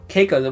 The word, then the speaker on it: Keiko: Keiko. Keiko.